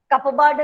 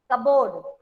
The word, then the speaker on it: cupboard: अरे भैया माफ कर, कपबर्ड नहीं होता है, कबोर्ड, इट्स कबोर्ड।